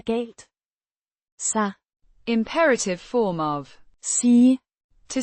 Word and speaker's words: sig: Imperative form of Sige. to say, pronounced Sig. similar to the English word see.